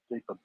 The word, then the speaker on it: Gripen: Yeah, Gripen. She's pronouncing it with the wrong R. You know, the Grip. It's R from the throat. Gripen.